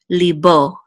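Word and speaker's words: לִבּוֹ: with a headache and it says Li and a bit with this valve and the dot over it says all so this is Bo Lee Bo Lee Bo and this means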